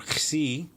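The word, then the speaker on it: ξι: Xi is kind of a KS sound.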